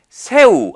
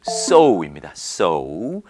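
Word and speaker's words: sew: 거 한번 읽어 보시겠습니까 세우 아니고요 우 아니고요 발음은 so입니다 so이라서 뭔가이 이유 그래서나 뭐 세우 이렇게 읽을 것 같지만 정식 발음은 so입니다 많이들 실수합니다 자 그런데 어이 의미는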